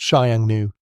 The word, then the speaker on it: Xiongnu: After conquering warring states and forging an empire, Qin Shi Huang faced a significant threat from the north, nomadic horsemen, particularly the Xiongnu, pronounced Xiangnu.